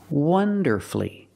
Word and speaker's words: wonderfully: beautifully and he performed wonderfully wonderfully three syllables don't pronounce a u you have two syll before f l l y and the stress is on the first syllable so the U is silent wonderfully he performed wonderfully